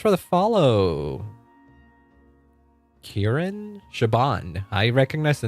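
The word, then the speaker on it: Siobhan: I know Shabban. Shabban Thompson. The name does not confuse me anymore. So I can I can pronounce it.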